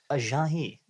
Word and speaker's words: Ajayi: Check him out with the pronunciations. Ajayi.